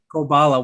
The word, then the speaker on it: Koballa: How do you pronounce it? yeah, Ko Koballa. Koballa.